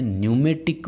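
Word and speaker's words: pneumatic: My dear, dynamometer वाले जो है उसमें न्यूमेटिक बोलते हैं उसको। क्या बोलते हैं? न्यूमेटिक डैम्पिंग, जिसकी स्पेलिंग P से शुरू हो रही है, ध्यान रखना।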